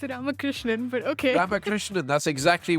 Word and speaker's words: Ramakrishnan: That's how you pronounce your family name. No, it's Ramakrishnan, but okay.